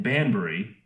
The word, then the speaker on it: Banbury: cars were made in England the facility in Banbury if I pronounce that right yes you did where they